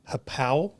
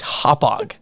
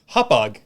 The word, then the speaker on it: Hauppauge: This is the guy I'm referencing is a buddy of mine that lives on Long Island. Okay, Massapequa. There you go.